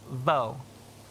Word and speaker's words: vo: The vo part is pronounced by biting your lip as you say it. Vo.